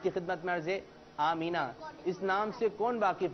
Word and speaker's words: آمنہ: سے کون واقف نہیں، لیکن اس کی ادائیگی کچھ لوگ صحیح نہیں لیتے، آمنہ آمنہ پکارتے ہیں۔ کیا پکارتے ہیں؟ آمنہ۔ تو اس کی صحیح ادائیگی، اس کا تلفظ ہے آمینہ۔ اور یہ ہمارے پیارے